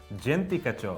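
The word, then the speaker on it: Djenti kacho: So it's spelled D-J-E-N-T-I and K-A-C-H-O. I want to say Gentika. Pretty good. Gentika.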